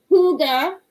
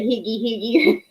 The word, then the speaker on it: Hygge: that, Hygge, but now I know how you pronounce it, so it's called Huga Huga, I think, yarn or something like that, instead of Higgy Higgy.